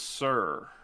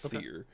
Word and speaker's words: Cyr: so those two albums uh smashing company and seer and that's spelled cyr um and i mean i thought it maybe it was sir from all the reviews i've watched it's pronounced spear um and then billy joe armstrong um no